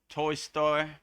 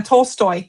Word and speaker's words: Tolstoy: 10 divine quotes from Leo Toy Store. I hope I said that right. Uh Tolstoy.